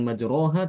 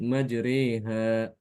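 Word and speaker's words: مجريها: sini Alif kepada ya Jadi dibacanya Bukan majroha tapi majreha majreha jadi tolong diperhatikan ya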